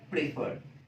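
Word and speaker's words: prefer: मान करके चलते हैं अब यहां पर देखें एक वर्ड है प्रेफर इसे आप प्रेफर या प्रेफर दोनों तरीके से प्रोनाउंस कर कर सकते हैं तो यहां पर अगर आप देखें एक लंगर वर्ड है उसम हम स्ट्रेस लास्ट वाले सिलेबल प दे रहे हैं प्रेफर प्रेफर तो ऐसे में जब स्ट्रेस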